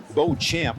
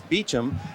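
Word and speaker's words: Beauchamp: Bill and he said well I say Bo champ that sounds athletic my father says Beach him he said but when I'm talking to the ladies I kind of like like the French pronunciation I'm Chara's the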